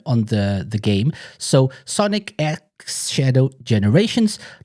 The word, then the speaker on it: Sonic X Shadow Generations: guys' thoughts on on the the game so Sonic X Shadow generations not cross not it's Sonic X Shadow generations that's how to properly pronounce it AR's like what the hell have